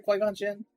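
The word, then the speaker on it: Qui-Gon Jinn: Uh Quigon. Yeah. Did I say it right? Quon Jin. Yeah, that's right.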